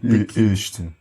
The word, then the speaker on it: este: E eu digo, é certo que este plano vai funcionar. Então, diz só o este. Esta. Pois, isso é médio aberto, não é? O este é o é médio.